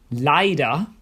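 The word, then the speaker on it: leider: get them right as the wrong vowel combination can change the meaning of the word for example Vine meaning wine as opposed to V which is the capital city of Austria Vienna Lia means unfortunately but leer means songs if you see another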